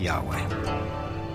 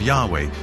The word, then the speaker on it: Yahweh: English would be YHWH, which we think were probably pronounced something like Yahweh.